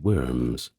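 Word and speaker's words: wyrm: George's continental dragon, many shires had their own worms, often more serpentine and grounded in specific locales. Now the word worm, that is spelled W-Y-R-M in Old English, it meant a dragon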